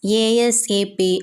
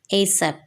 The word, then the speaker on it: ASAP: as soon as possible you can pronounce it as ASAP or say it like a word ASAP meaning for this do